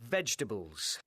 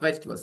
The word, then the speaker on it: vegetables: Vegetables now vegetables. Now so now now vegetables they're going to cook something. So they need stuff, right? Talking about vegetables. Now vegetables. The E after G is silent.